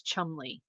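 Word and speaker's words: Cholmondeley: Um, it's pronounced like the town and then it's said as Chumley. And then Daffhany chimed in as well. Chum Chumley.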